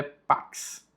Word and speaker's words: pax: O X em latim tem a pronúncia de KS, por isso é pax.